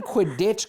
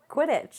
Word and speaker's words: Quidditch: they gave the stupid quidditch club the quiddit the people who are pretending to play quidditch like twenty thousand dollars why are you saying it like that how do you say it quidditch whatever i hope you